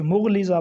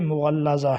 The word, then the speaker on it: مغلظہ: اسی طرح طلاق مغلظہ، اس کو طلاق مغلظہ پڑھتے ہیں، کچھ مغلظہ پڑھتے ہیں، یہ درست نہیں ہے، جبکہ درست تلفظ جو ہے طلاق مغلظہ ہے۔ آخری دو لفظ آج